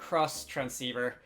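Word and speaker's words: Xtransceiver: a little pronunciation H by spelling it out cross transceiver so uh that's the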